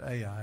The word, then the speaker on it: Ai: on this smaller city called I you'll hear people pronounce it AI it's just a I city of I they go out and